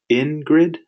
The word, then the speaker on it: Ingrid: And so when Ingrid starts, she'll set up the classroom the way she wants it.